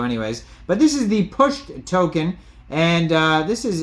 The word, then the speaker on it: PUSHD: we're going over the pushed token now this is spelled pushed with no e it is p h d uh that is the